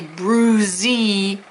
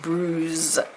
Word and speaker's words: bruised: to because we don't say Bruzzi it's just bruised so the E's going